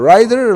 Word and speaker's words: writer: Yeah, he's a terrible terrible riser. He's a terrible not riser. Rider. Rider like rider. Yeah, rider. That's how you say it.